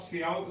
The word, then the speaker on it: ciao: चाह रहे हो तो इसको आप सियाओ सियाओ बोल दो, ठीक है। हाँ। बट जबान पे जो प्रचलन की भाषा में जो चढ़ जाता है और जो इजी टू स्पीक होता है तो वो वर्ड जो है वो वर्ल्ड ओवर मतलब पूरे वर्ल्ड में वो चाओ जो वर्ड है ना, चाओ,